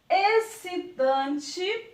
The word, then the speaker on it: excitante: E na verdade não é, porque o X ele está aqui, ó, escondidinho, mas ele não é pronunciado. Então fica exceto, excitante, excelente e excesso.